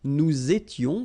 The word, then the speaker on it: nous étions: Okay, tu étais, il était, elle était, nous étions, little liaison here to make it more beautiful, nous étions, okay, final S not pronounced, remember, vous étiez, same